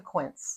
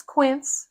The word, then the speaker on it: Quince: Let me introduce you to Quint. And that's Quint. It rhymes with rinse.